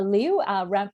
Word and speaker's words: Liu: Yeah, I'm Liu, rhymes with new.